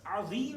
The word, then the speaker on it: عظیم: اگر وہ شخص عظیم صحیح نہیں پڑھ سکتا، عین اور ضا یہ تھوڑا مشکل ہے، اس کے تلفظ ہونا ضروری ہے.